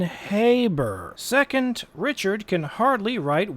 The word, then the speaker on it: Haber: First, the name is pronounced with a long A as in Haber.